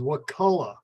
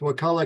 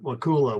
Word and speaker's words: Wakulla: The pronunciation is Wakulla. The people downstate often say that word wrong because of Wachula, is it? But anyway, it's Wakulla County, Wakulla Springs. Not Wakula, which is what people downstate often say.